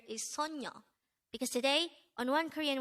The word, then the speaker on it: 소녀: This is pronounced as a two-syllable word. The first syllable is so, second syllable is nyo. Pronounce it with me. Sonyo, sonyo, sonyo.